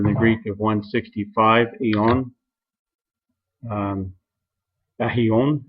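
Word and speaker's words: αἰών: Ahion, as the pronunciation shows it should be said there.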